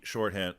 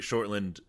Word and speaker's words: Shortland: that i think that in black widow kate shorthand shortland i'm gonna keep saying it wrong now because i wrote him i know it's kate shortland she shines through her directing voice shines through